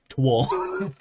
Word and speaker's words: Towl: It's just pronounced it like Twol.